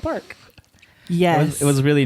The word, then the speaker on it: Parq: I got to visit some parks, Yes. particularly Park Casino in Vancouver. That's spelled PARQ.